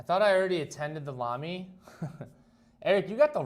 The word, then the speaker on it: Lamy: Wait, I've been saying Lamy wrong. It rhymes with mommy.